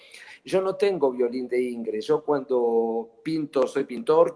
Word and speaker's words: Ingres: Y yo siempre digo que en Francia había un gran pintor que se llamaba Ingres, que acá pronuncian Ingres.